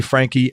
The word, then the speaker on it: Franchi: background on Danny and his last name it's Frankie but it's spelled f ra n CH is when you start